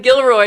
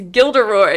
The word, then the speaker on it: Gilderoy: calling him Gilroy Lockhart it's not even Gilroy it's gilderoy is it oh no